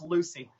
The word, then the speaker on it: Lewsey: It's pronounced like same as Lucy.